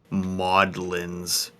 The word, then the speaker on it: Magdalene's: Emma's like, I played this game for a full year before I learned that Magdalene's is pronounced Maudlins.